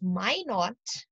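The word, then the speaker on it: Minot: by me not okay or if you want you can pronounce it as my naught why not okay i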